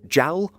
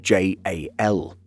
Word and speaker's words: JAL: Some said these three letters as a word, JAL, while others use JAL.